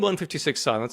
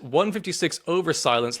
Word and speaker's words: 156/Silence: do you say it because they read it as 156 over silence like they're doing a blood pressure reading that's not correct is it surely no